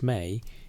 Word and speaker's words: me: The word itself, me, pronounced may, is one of those Sumerian terms that resists clean translation.